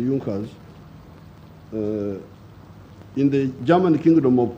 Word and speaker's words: Junkers: known as the junckers it's written in the junkers but it's pronounced as the yonkers in the german kingdom